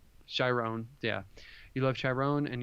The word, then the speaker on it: Chiron: You love, you love Chiron, and am I saying his name wrong? Chiron, yeah.